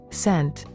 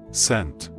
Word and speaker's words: cent: Sent. Sent. Когда буква C стоит перед буквами I или E, то она обычно произносится как S.